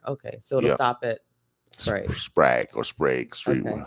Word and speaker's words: Sprague: Sprag or Sprague? Sprague. So I say Sprague. Sprague. In case y'all don't know what he's mean by Sprague, Sprague. Yep, and it's spelled SPRAGUE.